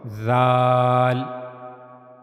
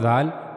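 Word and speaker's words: ذ: Zal just use your tip of your tongue and then connect it to the edges of the two top front teeth. And that's how you can easily pronounce zal. And also remember one thing the sound of zal will be soft. Zal zal. So this is the origin of pronouncing zal.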